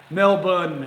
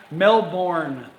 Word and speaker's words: Melbourne: the sound is differently Mel bun it's spelt in English Mel born that's how it's spelled but obviously it's not morning I was corrected on that and I and I'll never forget that that's what if it's Melbourne and that's Mel bun have I been to